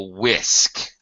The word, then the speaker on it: whisk: thing is called a whisk uh whisk whisk yes whisk whiskey it does sound like whiskey or itth without the Y yeah that's exactly right